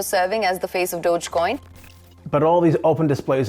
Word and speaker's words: Dogecoin: pyramid scheme to support dogcoin Dogecoin I think is how you say it right musk himself admitted